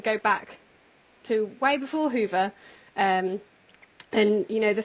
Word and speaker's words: Hyvä: always want to say hi because it's pronounced h y v a with a little hat on um but the official pronunciation is Hoover so you might catch